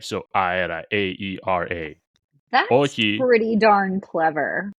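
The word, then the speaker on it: όχι: And then, we had Ohi, O-X-I, is how like it's spelled kind of in English script.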